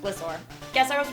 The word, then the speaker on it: Gliscor: Gliscor? That's so weird. You're right, it definitely sounds off, but considering Gliscor's name is a portmanteau of glide and scorpion, it makes sense.